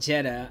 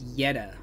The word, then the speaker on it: Jetta: happened but supposedly Jessie's Jetta and it's not pronounced Jetta I always call it Jetta but someone kind of corrected me and said that it's pronounced Yetta like a why Yetta anyway um Jesse's Jetta